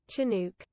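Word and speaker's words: Chinook: um is it a shinook what this hey Breeze that's a shinook I don't know how you say it though chinuk chinuk that's sounds very Scottish chinuk that's a British pronunciation shinook shinook yeah so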